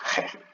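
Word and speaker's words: חית: But one of them is a Het, and it's pronounced Heh.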